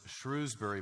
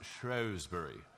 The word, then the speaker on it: Shrewsbury: And I thought it was Shrewsbury, but the British pronounce it Shrewsbury.